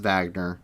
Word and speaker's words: Wagner: wagner group is it's spelled wagner but it's pronounced wagner and they are a russian mercenary group um